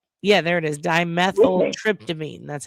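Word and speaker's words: Dimethyltryptamine: Dimethyl Tryptoamine.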